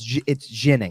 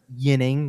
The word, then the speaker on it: Ginning: But it is a soft sound, so it is not Yinning, which is what Yinning is more of what the Swedish pronunciation should be.